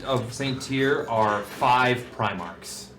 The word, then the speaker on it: Primarch: St tier are five primarch M love just need to go above the oh Primark five Primark like the store no no primar says like primar literally like the Pinnacle